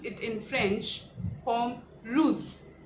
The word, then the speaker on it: pomme rouge: So we pronounce it in French, pomme rouge, pomme rouge.